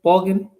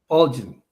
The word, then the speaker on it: Bolgin: How do you pronounce the last name? Borgin? Bulging. Bolgin. Yes.